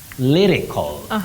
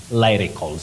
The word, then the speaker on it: lyrical: that one oh Betty you say Le not lie uhhuh lyrics lyrical not lyrics and not lycal so you say lyrical okay will I can't